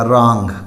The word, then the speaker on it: wrong: इसके बाद है WRONG, यहाँ भी W के बाद R यानी R से पहले W है, W साइलेंट रहेगा, रॉन्ग, गलत।